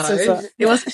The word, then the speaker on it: SZA: I don't even know how to pronounce this. SZA. Yeah. No, SZA.